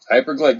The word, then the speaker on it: Hyperglade: Hyperglade, just like it's spelled.